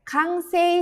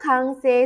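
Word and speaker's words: 完成: Lagi-lagi ini kanjinya bertemu dengan kanji lagi, jadi dibacanya kang ya, kangryo kansei.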